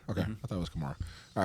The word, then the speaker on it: Kamara: So Alvin Kamara can line up as a receiver. He can line up as a receiver. He can line up in the backfield. You said it right. Kamara?